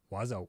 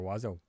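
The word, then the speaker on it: Oizo: It's pronounced Wazo, Mr. Wazo.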